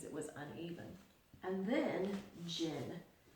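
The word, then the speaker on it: Djinn: was uneven and then Jin the D is silent in this word and Jin is a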